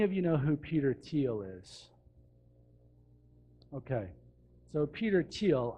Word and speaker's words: Thiel: you know who Peter teal is okay so Peter teal I would look him up as well if you're interested in following up his last name is spelled th iel th iel peter thiel so Peter teal is